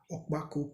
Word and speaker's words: Okpako: Just type my name, Okpako. Okpako is spelled O-K-P-A-K-O.